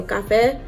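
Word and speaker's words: Café: I'm pretty sure you're supposed to pronounce that with the Spanish accent. So Cafe.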